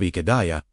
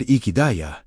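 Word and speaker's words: Ihedaya: How to pronounce it? Say it slowly, I-H-E- D-A-Y-A. Let each syllable land without rushing. The second syllable, h e e, is where the breath carries the most resonance.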